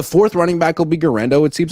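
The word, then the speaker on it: Guerendo: I'm just happy that gendo rhymes with Fernando and that he's good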